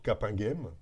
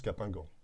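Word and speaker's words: Capinghem: l'arrondissement de l'île où la prononciation est le plus souvent m comme pour capingem le hameau des descendants de cap que certains prononcent capingan on retrouve de très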